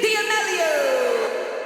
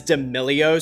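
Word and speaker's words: D'Amelio: Dixie Dio. It was technically correct, but everybody else pronounces it as Dilio.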